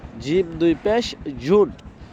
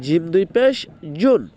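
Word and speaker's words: ج: এরপরে জিম, জিম দুই পেশ জুন, জিমটা খুলবো, জিমটা হবে জিব্বার মধ্যখান তার বরাবর উপর তালুর সঙ্গে লাগায় তারপর বলতে হয় জিম।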